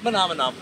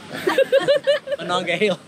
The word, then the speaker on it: Monongahela: Monongahela. Monongahela.